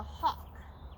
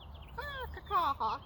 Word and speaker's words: Hock: one, is called the Hock. Okay? It's not like Hock, it's like Hock, like a meat product.